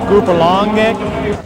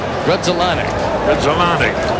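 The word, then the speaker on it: Grudzielanek: the bloopers, and in some cases, how to pronounce their names. Oh, from Krasinker to Gruppalongek. It ends with a K and starts with a G. Everybody's getting it right up here but Harry Carey. Grudzelanek.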